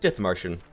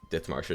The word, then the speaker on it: Dithmarschen: However, this series today is going to be playing as a tiny little nation, Germany, called Dithmarschen. I believe that's how yeah, okay, that's how you pronounce it.